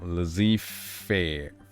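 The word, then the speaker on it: laissez-faire: like lazy all right the zed is silent zee yeah there we go lazy fair let's see fair bear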